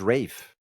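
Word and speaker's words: Ralph: we're so used to it's like um Ray finds or it's Rafe right I think it's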